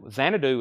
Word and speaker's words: Xanadu: But Xanadu is one syllable.